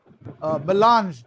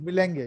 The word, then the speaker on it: melange: I was saying MC Kejriwal Vidyapit, 25 glorious years of existence, conducting a fascinating show, melange, but I thought it was Milenge. I was pronouncing it as Milenge.